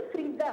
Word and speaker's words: फरीदा: नहीं, रिदा नहीं, फरीदा।